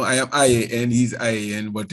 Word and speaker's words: Ian: am i and he's ian but in russia they pronounce it yan you know they don't say ian as we say in jamaica and kasparov told me